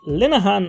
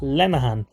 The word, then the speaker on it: Linehan: And funny enough, it all came from people not being able to pronounce my second name, which is Linehan and not Lenahan.